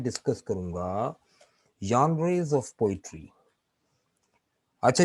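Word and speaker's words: genre: जॉनरे या जॉनरे, right, इसका सही प्रोनाउंसिएशन इस तरह से, मैं सुनवाता हूं आपको।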